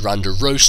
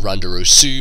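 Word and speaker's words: Roserade: to his Randarose, and it's Randarose, not Randarosu, because in Japanese if you have an S and a U, then you don't pronounce the U at the end, so it's Randarose.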